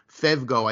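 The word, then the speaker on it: φεύγω: Pugo. So it would be a P-H. If we transliterate it, it's P-H-E-U-G-O. Fugo or okay. Pugo, or actually fevgo, I think, is the modern Greek pronunciation of it.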